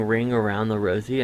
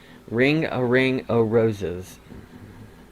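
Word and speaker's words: Ring a Ring o' Roses: around the rosie and apparently i've been saying it wrong i've been saying ring around the rosie and i think that's what everyone says apparently it's ringo ringo rosie's not even rosie's ring a ring of roses so mandela effect i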